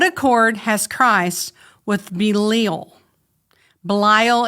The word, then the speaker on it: Belial: Belial is how I would pronounce it, but the dictionary says Belial.